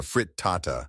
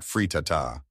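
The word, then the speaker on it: frittata: by saying it wrong a crustless kiche is called a frit Tata not frata with wildly unfounded confidence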